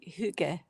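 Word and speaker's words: hygge: You say a a Y with a O-shaped mouth. Huga.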